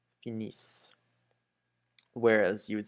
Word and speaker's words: finissent: You still don't pronounce it, but make sure that you emphasize on the is. Finissent.